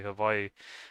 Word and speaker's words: Hawaii: Hawaii, or I guess they over there they say Hawaii. They pronounce the W like a V, I guess like how some of the Germans do, interestingly enough.